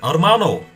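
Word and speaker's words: hermano: Why did Why did I pronounce the H? Gracias. Mana. Armano.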